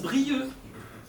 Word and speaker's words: Brieuc: On écrit Brieuc, mais on prononce Brieux.